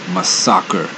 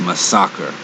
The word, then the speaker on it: Masacre: one in this case this champion's name only has one s in it so it's pronounced my soccer now my soccer does